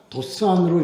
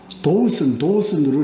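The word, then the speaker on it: Dothan: 근데 그 사람들 발음으로 우리가 좀, 참고로 말씀드리면, 도단이나 도산으로 이렇게 하지 않고, 도우슨으로 이렇게, 제가 한번 애를 먹은 적이 있는데, 거기 가서.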